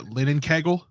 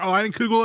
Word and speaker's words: Leinenkugel: their intern was trying to pronounce Leinenkugel, and he called it Linnenkegel, and I was laughing for a good 30 minutes because it reminded me of the architect. Oh, you got a Leinenkugel over there?